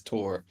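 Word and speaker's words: Thor: It's spelled with an H, but it usually modern pronunciation is Tor.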